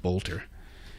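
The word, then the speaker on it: Boelter: The suspect is named Vance Luther Bolter. It's spelled B O E L T E R pronounced Bolter.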